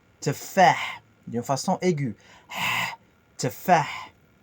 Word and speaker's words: تفاح: تفاح تفاح. Le H à la fin, c'est un H expiré dans la gorge. تفاح, d'une façon aiguë. تفاح. Tefah, Parfait, répète.